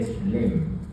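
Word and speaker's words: Schlemm: Canal de shlem, así se llama. Está como se escribe.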